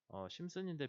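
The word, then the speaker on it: Simpson: 심슨인데 P는 묵음인 것 같아서 저는 계속 심슨이라고 했는데 P가 묵음인 것 같거든요.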